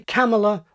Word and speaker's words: Kamala: In other words, stress the first syllable, pronouncing it with the vowel of gather and trap. So option A, Camela, like camel.